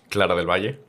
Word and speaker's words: Clara del Valle: Clara del Valle, pronunciation? Clara del Valle.